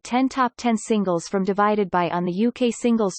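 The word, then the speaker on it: ÷: Sheeran's third album, Divided by Pronounced Divide, was released in March 2017, and was the best-selling album worldwide of 2017.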